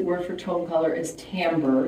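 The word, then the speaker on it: timbre: for tone color is tamber it's french word so it's t i m b r e pronounced tamber so Tom is tamber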